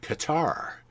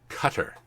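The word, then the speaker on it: Qatar: You may see it pronounced Q A T A R, and a lot of people have been saying Cutter, as in guitar, but no, it's actually pronounced Cutter.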